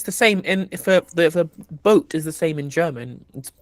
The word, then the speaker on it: boot: is so stupid but it's pronounced boat is it pronounced boat well okay but like